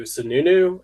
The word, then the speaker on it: Sununu: All right, so let's move on to a big story of William Weld donating to Sununu.